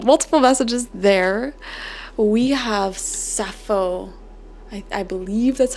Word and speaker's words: Sappho: We have Sappho. I believe that's how you pronounce it, the poetess.